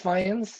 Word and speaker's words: Fajans: So, hey guys, my name is Fajans. Last name is kind of weird, but rhymes with lions.